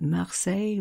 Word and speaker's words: Marseille: It's no coincidence, you know, that Marseille rhymes with soleil, because this is one